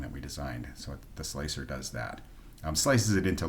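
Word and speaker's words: Slic3r: install is sudo app install so Slicker or slick 3r it's actually slicer with a backwards but um people for some reason pronounce it slick 3r but it's really probably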